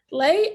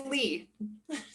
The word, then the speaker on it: Leigh: privilege of speaking with lee lay i i may have mispronounced your last name i am so sorry thank you for joining me today thank you for having me dan and it's lee okay we got you